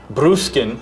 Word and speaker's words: Bruskin: Bruskin.